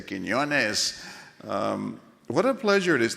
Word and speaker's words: Quiñones: Didn't she pronounce Quiñones very well? It's not the easiest name to pronounce. I've been called everything from Quinones to Quinones. So I appreciate it when they say Quiñones.